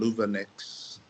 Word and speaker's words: Luvanex: So when I saw the advert from Louvenex, is that the right pronunciation?